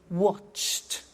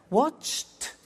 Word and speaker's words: watched: are hard sounds now when we add add the e d what happens is the pronunciation becomes T we don't say watched we eliminate the E and we say watched okay interesting hey so